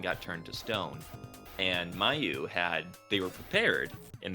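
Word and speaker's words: Myau: the cat's name uh it seems to be Mayu is how I would say it but meow is a legitimate alternative pronunciation like I don't know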